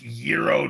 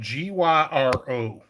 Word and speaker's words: gyro: It is pronounced Euro, Joe. It's spelled Gyro, so I call it gyro.